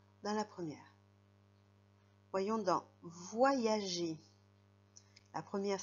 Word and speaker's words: voyager: Dans la deuxième syllabe, il fait le son I. Voyager.